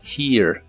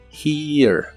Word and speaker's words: here: La H se pronuncia como una J suave y lleva un sonido de I larga. Además suena como un ligero sonido de E antes de pronunciar la R. Here, here.